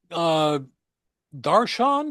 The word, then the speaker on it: darshan: Coffee darshan? Did I pronounce that correctly?